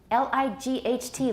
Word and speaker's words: light: L I G H T light, we don't pronounce the G H.